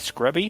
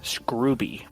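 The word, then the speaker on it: Scruby: And a lot of people pronounce his last name as Scrubby, but he said that it is actually Scrubby.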